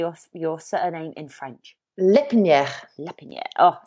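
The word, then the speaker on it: L'Herpiniere: no absolutely fabulous now I know I have butchered your your surname but how would you say off your surname in French lip Nia Oh sounds fabulous thank you okay so you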